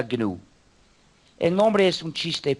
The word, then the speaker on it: GNU: se llama gn es decir gnu y se pronuncia gnu el nombre es un chiste pero el proyecto